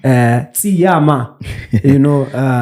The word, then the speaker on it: Tshiama: Tshiama, that's how you pronounce it.